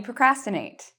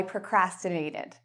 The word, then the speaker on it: procrastinate: And you'll notice the "cras", procrastinate, is the loud part.